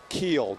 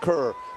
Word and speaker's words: Keel: some angry fans in Statesboro said that I've mispronounced the name of the president. It's Brooks Keel, not Cerr.